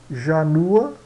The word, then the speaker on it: janua: O J soa como I. Vamos ver aqui os exemplos aqui. Janua, que é porta, puerta, porta, né?